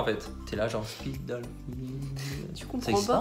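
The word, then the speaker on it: Spitalfields: Et en fait, ça se prononce Spitalfield.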